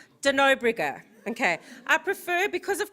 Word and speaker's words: de Nobrega: i say your surname wrong how is it pronounced de nobrigger okay i prefer because of cross critical cross-field